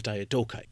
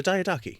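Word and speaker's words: Diadochi: So we're jumping into the deep end of the second war of the Diodokai or the Diodaki. Now there's a few ways to pronounce that, but the idea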